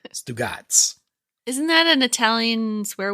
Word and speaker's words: Stugatz: I think they say Stugatz. It is Stugatz. Stugatz.